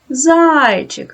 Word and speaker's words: зайчик: Поставте наголос. Зайчик. Наголос падає на перший склад.